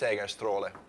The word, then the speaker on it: Segerstråle: It's Segerstråle, if you want to pronounce it in the Finnish twang of Swedish that I speak. Segerstrail.